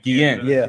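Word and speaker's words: Guillén: Guillen.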